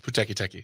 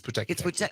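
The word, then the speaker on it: Pūteketeke: I had to sound this out phonetically. We want to send congratulations to the Puteki. The Puteki Teki. Puteki Teki? It's Puteki Teki. Is it? It's Puteki Teki.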